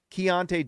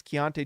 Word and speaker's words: Keyonte: So Keyonte George. By the way, that's how you say it. Someone keeps making comments about that. It's Keyonte George, okay?